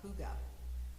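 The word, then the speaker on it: hygge: There is a Scandinavian practice of leaning into the winter months called huga, but it is spelled h y ge in case you ever run across it in print somewhere.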